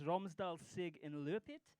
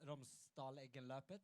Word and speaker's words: Romsdal-Eggenløpet: It's Romsdal Sig in Lurpet. Is that right? Romsdal-Eggenløpet. Thank you.